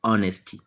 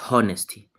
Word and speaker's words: honesty: You remember that this H is silent, so it is pronounced as honesty, not honesty.